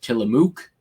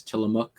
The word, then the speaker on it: Tillamook: oregon along the oregon coast it is not pronounced tillamook as was me recently mispronounced by uh seth meyers in corrections it's not tillamook it's tillamook again uh we have the hotel seaside in